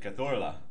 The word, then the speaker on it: Cazorla: Because me hablo español, I'm going to pronounce it Cazorla. Okay. Being a Glaswegian, can... He'd be Santi Cazorla.